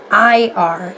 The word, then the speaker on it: Sleipnir: His name's Sleipnir. Is that how that's pronounced? Sleipnir, I believe.